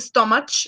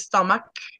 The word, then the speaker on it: stomach: And at the pronunciation of stomach, yes, stomach, not stomach, but it's stomach, yes, like the CH Okay, teacher.